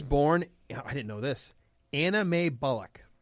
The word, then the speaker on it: Anna Mae: It's literally Anna, M-A-E. Spelled even M-A-E. Anna Mae. And it wasn't just Anna. Got like more syllables than you actually see in the word.